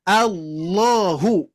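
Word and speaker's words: الله: ha ataupun Dom domma Jadi dibacanya adalah Allahu bukan la tapi lo nah ini ini yang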